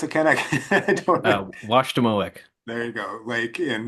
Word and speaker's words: Washademoak: His recent research has been focused on lithic quarry sourcing at, how do you pronounce it, Ken? I don't know. Washademoak.